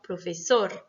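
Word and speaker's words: profesor: Exemple, professor, espagnol. D'accord? Donc là, c'est sor et ñol qui sont accentués.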